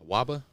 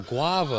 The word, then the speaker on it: guava: Waba? Oh, guava. Oh, I was saying it wrong.